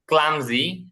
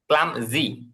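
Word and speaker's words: clumsy: নির্বোধ বোকা স্ট্রং শক্তিশালী উইক দুর্বল স্কিলড দক্ষ ক্লামজি অদক্ষ বিগ বড় স্মল ছোট ঠল লম্বা শর্ট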